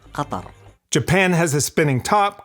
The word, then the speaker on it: Qatar: the official pronunciation of my country is Qatar.